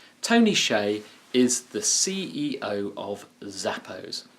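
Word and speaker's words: Hsieh: delivering Happiness by Tony Shea by the way Shay is spelled h s i e h it's pronounced Shea Tony Shea is the CEO of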